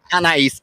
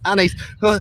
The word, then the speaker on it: Anaïs: Because in French it's Anaïs. Is it the same for you? It's French. Yeah, exactly. Yeah. Same thing. Anaïs, awesome, Anaïs.